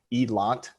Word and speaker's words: Eland: the name itself it the pronunciation doesn't matter too much but the pronunciation and I'm not gonna like attempt the exact pronunciation but heed lont is more close to what the actual pronunciation would be and then as is